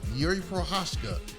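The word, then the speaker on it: Jiří Procházka: it again girl yuri pro there you go yuri pro hoshka in like we said okay is this going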